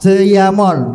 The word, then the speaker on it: Jejamon: saya bacanya itu Yamon. Jeyamon karena kan depannya pakai DJ, Heeh. belakangnya pakai J itu kan berarti dibaca Y ya.